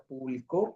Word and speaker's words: publicó: Y luego, como les decía ahorita, publicó, pues es la acción del pasado que lleva acento en la O.